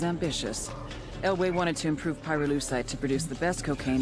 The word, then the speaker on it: pyrolusite: yeah neither did I pyrolusite key syllable pyro by the way is